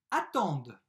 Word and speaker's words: attendent: verbe attendre au pluriel ent je ne prononce pas mais je prononce le d juste avant attendent les régions attendent